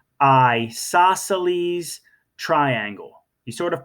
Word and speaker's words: isosceles: tick marks okay and we call it an isosceles triangle say with me I saw Sally's triangle you sort of pronounced it like an eyeball I saw Sally's triangle say one more